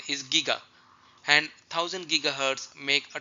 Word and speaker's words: giga: people pronounce it as but the Koran correct pronunciation his Giga and thousand gigahertz make a terahertz now thousand